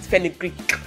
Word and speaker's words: fenugreek: I even pronounce it fenugreek. You can hear the Greek in my fenugreek.